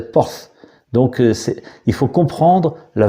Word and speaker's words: Portz: Enfin, il s'inscrit PORTZ, mais si on le prononce avec notre prononciation de maintenant, on dirait ports, mais en réalité ça se prononçait pas ports, ça se prononçait porth.